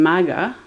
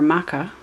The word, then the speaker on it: Makha: But we have the throne here in Maga, or Maka. I kind of think I should be saying Maka instead of Maga. I found during this month it's spelled as Maka, M-A-K-H-A instead of G-H-A.